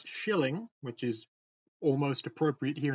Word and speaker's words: killing: look like get killing I'm told it should be pronounced yet Shilling which is almost appropriate